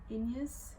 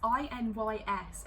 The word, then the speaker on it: Inys: But Ede is the lady in waiting to Queen Sabran, who is the current queen of, I want to say it's pronounced Inyas. It's Inys, and I, throughout the whole book, have not known how to pronounce that.